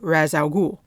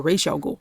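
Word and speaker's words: Ra's al Ghul: he is basically the grandson of razal Gul or Ral Gul however you want to pronounce it who was that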